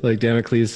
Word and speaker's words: Damocles: How is it you pronounce it? Hold on, Democles. Hey, don't tease me, okay? Damocles says.